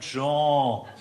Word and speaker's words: Jean: Ganz einfach, Nase zuhalten und Jean.